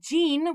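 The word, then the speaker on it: 人: means person or people if it's pronounced jean we put it right after a country and then we get the country person okay america jean is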